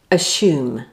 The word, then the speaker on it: assume: Assume. Now, what do you think the correct word is? Clue. Nothing to do with ashes.